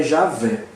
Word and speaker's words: Javé: Por não se saber ao certo como se realizava a pronúncia, entendeu-se que o som mais próximo dessa expressão seria Javé.